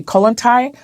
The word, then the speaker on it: Kollontai: But who was Alexandra, how am I say it correctly, Kollontai?